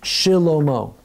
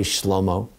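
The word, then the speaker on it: שלמה: So take the word Shlomo. Under the shin, you're going to pronounce those two dots. So yes, it's Shilomo. Don't say Shlomo.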